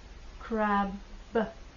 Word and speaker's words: crab: Давайте замедлим. «Crab». Б, краб. При произнесении мы сжимаем губы, делаем остановку и потом выпускаем воздух. Краб, краб. I like crab cakes. Если вместо Б в конце произнести П, то люди могут странно подумать о нас.